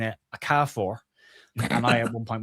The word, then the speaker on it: Okafor: the weekend on the watch along on Noah Okafor's pronunciation because Robbie Elliott on commentary for TNT kept pronouncing it Okafor.